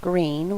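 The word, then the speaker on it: Gruene: guadalupi river it's in a little town called green which is spelled gu u r NE e it's a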